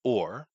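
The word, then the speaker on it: אור: back into the original Hebrew, uh it's it's pronounced or uh and it looks like the old gaml, which is uh uh where C comes from.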